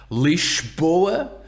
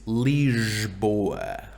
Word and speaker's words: Lisboa: And the capital of Portugal is not Lisboa, it is Lisboa.